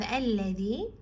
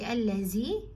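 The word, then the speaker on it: الَّذِي: And then you have alladhi. Make sure you don't make your dal heavy. Don't say allazi. It's not allazi, it's alladhi.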